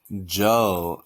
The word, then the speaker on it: 久: 久 Joe. Oh. 久 Joe. A little bit like the English, like a Joe, but we need to make it like low tone.